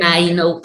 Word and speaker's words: Mainou: Mainou, tal como se escribe, así se pronuncia, Mainou Voices.